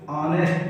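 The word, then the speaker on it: honest: यहाँ पर ऑनेस्ट है, ये यहाँ पर ऑनेस्ट, यहाँ पर एस साइलेंट होता है तो यहाँ पर इसको ऑनेस्ट पढ़ते हैं।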